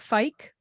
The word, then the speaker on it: Fike: and today's guest is and do you pronounce it Fike yes okay good she is the CEO of